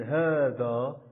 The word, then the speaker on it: هذا: إذن ومن خلال هذا الدرس سنتعرف الأهداف التالية، وهو تعرف اسم الإشارة وحالة كتابتها ولفظها، ثم كذلك سنتعرف الأسماء الشاذة وحالة كتابتها ولفظها.